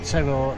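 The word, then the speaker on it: Teror: We pronounce it in the UK Terror, but it's pronounced Terror locally.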